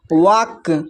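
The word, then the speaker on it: walk: देखिए should would फिर next देखिए वाक यहां पर जो है एल के बाद अगर के भी आए तब पर भी जो है एल साइलेंट होता है।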